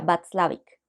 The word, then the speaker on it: Watzlawick: Se escribe Václavic, pero pues por el tipo de idioma que creería que es o alemán o polaco, sería Václavic.